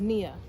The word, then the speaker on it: Nia: Well, the one I want to lift up actually rhymes with my name, is Nia. And though it's spelled differently.